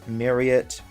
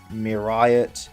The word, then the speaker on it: Myriot: Also, I think pronouncing it as Myriot, Myriot, or anything like that is okay. It should be Myriot, but I find Myriot easier to say.